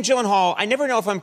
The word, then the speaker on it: Gyllenhaal: It is a Swedish name. So shouldn't it be like Gyllenhaal? Oh my God. I have Gyllenhaal. The only two places that that is pronounced correctly, my last name like you did just now, is in Sweden and in IKEA.